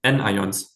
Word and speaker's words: anions: Okay, next one, anions. What does anion like rhyme with? Maybe like onions, right?